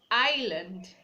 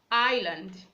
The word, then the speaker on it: island: We have island, island, not Island.